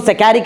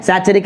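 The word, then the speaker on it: saccharic acid: देख रहे 2-2 एसिड, इसको सैकेरिक एसिड बोलते हैं। क्या बोलते हैं? तुम्हारी मर्जी कैसे प्रोनाउंस करो, समझ आ रहा है? सैचुरिक एसिड बोलो, सैकेरिक बोलो, कैसे भी चलता है, बराबर।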